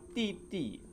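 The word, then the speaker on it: 弟弟: Sedangkan didi ini dibaca titi. Oke, Titi. Karena D di dalam bahasa Mandarin dibaca T.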